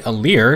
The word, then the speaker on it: Alear: lumira's lines in fight I actually have her say a leer so that's the actual pronunciation now despite being the